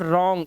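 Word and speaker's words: wrong: आर से पहले डब्लू आर से पहले डब् तो अब इसको क्या पढ़ेंगे इसे पढ़ेंगे सिर्फ रॉन्ग इतना ही राइट रैप ध्यान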